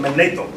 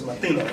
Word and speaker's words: Manetho: Google search of Mathino, the European calls them Manetho. So if you do a research on that, they spell it M-A-N-E-T-H-O. Prophet gave it to us as Mathino.